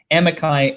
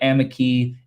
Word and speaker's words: amici: all over the place amikai amiki Amicus they literally all mean the exact same thing just different pronunciations in different parts of the world in the country there